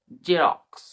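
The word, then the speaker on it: Xerox: শব্দের শুরুতে এক্স থাকলে আমরা এক্স বলি না। শুধু জ সাউন্ড উচ্চারণ হয়। মানে জেড এর মতন সাউন্ড উচ্চারণ হয়। মানে এক্স সাইনিন্স এর মতোই হয়। যেমন ফর এক্সাম্পল দেখি আমরা এক্স ই আর ও এক্স জেরক্স।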